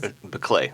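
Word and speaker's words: Biklé: And I'm sorry, I mispronounced your wife's name, so I want you to correct that. Your wife's name is? Beclay, Anne Beclay.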